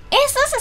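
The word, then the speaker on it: ASUS: エースースさんですよ、読み方は。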